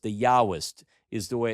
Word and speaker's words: Yahwist: If it uses J uh Yahweh they called it the jawist. The Yahwist is the way it's pronounced.